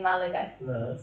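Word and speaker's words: Málaga: It's because there's an accent on the first a in in Malaga. So yeah, that means you have to put more of a pronunciation on the first a. So it should be mala rather than mala.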